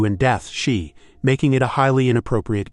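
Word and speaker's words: 四: Number four, pronounced she c sounds exactly like the word for death c.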